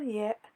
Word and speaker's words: ياء: And the letter Ya, which is like the letter Y in the word yes in English.